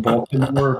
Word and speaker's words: Baltimore: no no no i i try to enunciate the t in the name baltimore because if i just say it the way locals say it's like either bomber or bob or and people are